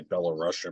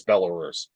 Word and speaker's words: Belarus: anyway I sometimes I used to sometimes say Bella Russia but it's oh pronounce Belarus but anyway uh so you know and then